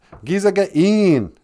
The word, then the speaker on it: Gizagain: I's are, like sit. Two A's are ah, like in father. Za. G. Then there's that glottal stop again, like oh.